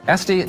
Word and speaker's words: Estee: your name I was tempted to pronounce it Este as in louder but it is este yeah no accent though very very American very